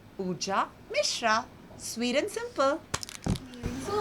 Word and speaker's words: Pooja Misrra: My name is easy and simple. It's Pooja Mishra. Like I said, not any of those which I said earlier, but Pooja Mishra.